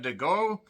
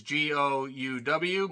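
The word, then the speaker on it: De Gouw: There's Jessica DeGoe. I think that's how you say it. It's Gouw.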